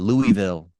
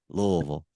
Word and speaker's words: Louisville: do, I used to call it Louisville. Now I know Louisville. Yeah. You got to say it like you got marbles in your mouth.